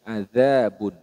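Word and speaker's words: عذاب: Nah di sini hati-hati adzabun jadi pelafalan dari huruf dalal yang ada titiknya seperti ini adzabun huruf dalal ini makhrajnya pada bertemunya ujung lidah dengan gigi seri bagian atas Adza adzabun sedangkan Dal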